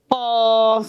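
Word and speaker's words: قاف: কি হবে, কফ। আমার সাথে উচ্চারণ করুন, কফ।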